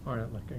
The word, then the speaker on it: Orentlicher: Orentlicker, yeah. Orentlicker.